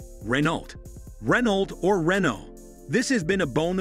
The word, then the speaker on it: Renault: Therefore, the correct pronunciation is Ren-oh.